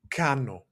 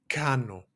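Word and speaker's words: κάνω: We have that O at the end, right? The omega in Greek.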